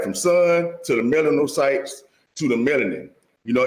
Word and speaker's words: melanocytes: melanocytes.